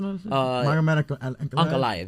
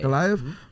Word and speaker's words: Ankalaev: How do you pronounce it? Ankalaev, yeah. Ankalaev versus Rakic.